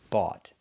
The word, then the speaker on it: bought: Our first example is buy, in the past bought. We see o u g h t. The sound is aw. The g h is silent.